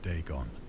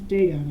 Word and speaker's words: Dagon: ancient Philistine legend of deeon the fish God I apologize Deon I've been pronouncing it wrong okay I've got that